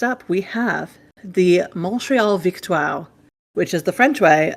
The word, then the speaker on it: Victoire: So you will probably hear them when watching on TSN and stuff like that be pronounced Victoire, because that's how it's pronounced en français.